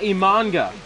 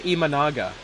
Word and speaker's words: Imanaga: On the mound is going to be Shada Immananga. Imanaga. Shada Shoda Imanaga. Okay. Well, I was wrong on pronunciations of both his first and last name.